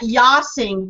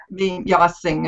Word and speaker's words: Jossing: But now you pronounce that Yossing, but it's spelled J-O-S-S? Jossing, and it means Yossing is how you say it, and it means patriot in Norwegian.